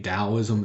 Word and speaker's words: Taoism: Buddhism Islam Confucianism Christianity Taoism it's pronounced with the D and then Judaism so